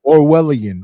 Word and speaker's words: Orwellian: Is it Orlian or Orwellan? How do you pronounce it? Orwellian.